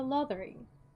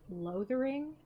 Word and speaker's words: Lothering: that we go to lathering and so we're in lathering and i know it's technically pronounced loathering but i feel weird calling it that so i'm gonna call it lathering um so yeah